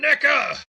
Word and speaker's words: NECA: COME ON, NECA. NECA, PLEASE. WHOA. You better pronounce that a little harder next time. That sounded real bad at first. That's a hard C.